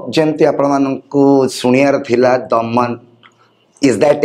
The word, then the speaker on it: Daman: बहुत interesting way लिखुचंती डीटा capital एमटा capital जेते पढ़ा होछि सेटा द मैन भले सुना जाउछि बट उच्चारण करचंती आपण दमन सो ए नाटा केमिति